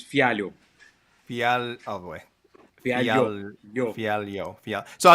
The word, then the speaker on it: Fialho: Yeah, it's Fialho. Oh boy. Fialho. So I was like Fialho. Fialho. That's my English. That's my English version of it. Speaking of Fialho.